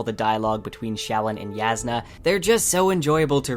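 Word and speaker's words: Jasnah: Yes, it is pronounced Yasna, though I still say Jasna in my head.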